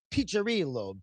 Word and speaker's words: Piccirillo: And and it's pronounced Piccirillo. The double C is a cha.